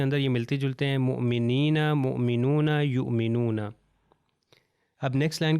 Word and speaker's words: مؤمنین: ہم نے پہلے مؤمن کے بارے میں بتایا تو یہاں پر پہلی ایگزامپل ہے مؤمنین مؤمنین. اگر میں کہوں مومن تو غلط ہو جائے گا.